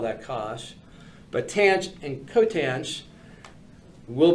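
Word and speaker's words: cosh: the two definitions for I will pronounce them cinch and Kos cinch and Kos uh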